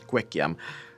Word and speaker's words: kikiam: The last one I got is this thing called Chinese kikiam. Kikiam, or some pronounce it as kwekiam, is sort of like